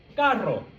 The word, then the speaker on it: carro: And now the second one, carro, carro, Perro.